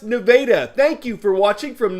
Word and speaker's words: Nevada: nevada high school yes that's pronounced nevada thank you for watching